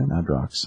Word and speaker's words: Madrox: Madrox. I think it's the X is silent. I'd say Madrox because it sounds cooler.